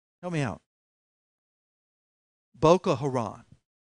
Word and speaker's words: Boko Haram: Boko Raton, it's a division of ISIS. How do you pronounce it?